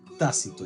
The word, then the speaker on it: tácito: no uno tácito casilico tácito lleva acento y yo sé te